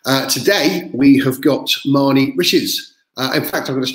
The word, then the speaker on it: Riches: Riches rhymes with bitches.